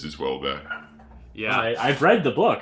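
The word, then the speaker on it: Houellebecq: wait is that how you say his name wellbe back yeah that's how you say it yeah how did you say it I was saying like I mean it's just well back yeah I've read the book I had no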